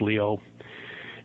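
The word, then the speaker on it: Lyot: but it's French so it's we pronounce it lot but it's actually Leo pronounced Leo and that um that was as big as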